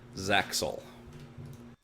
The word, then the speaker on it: ZAXOL: I believe that's pronounced Zaxel.